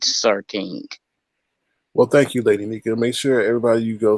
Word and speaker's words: Lady Nyca: It's not Lady Nyca, like some people say. It's Lady Nyca.